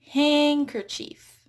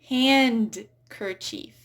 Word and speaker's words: handkerchief: Same thing with handkerchief. I hear handkerchief, but it's actually handkerchief. Silent D.